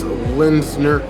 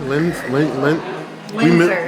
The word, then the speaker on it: Linzer: Nice Linzner cookie, or Linzer cookie? Linzner? Linzer. We mispronounce this on purpose all the time.